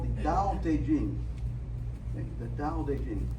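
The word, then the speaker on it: 道德經: It's an ancient Chinese text called the Dao De Jing. The Dao De Jing. It's pronounced Dao De Jing.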